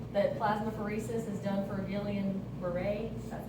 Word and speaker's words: Guillain-Barré: So you can go and read this chart, that plasmapheresis is done for Guillain-Barré, that's how you say it.